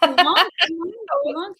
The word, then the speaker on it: Toowong: music festival happening at the Regatta Hotel in Toowong, I think it's called. So we're doing. You can pronounce that. Toowong, like that.